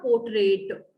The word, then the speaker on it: portrait: So grandfather's portrait, it's not portrait. T, last T is silent, beta.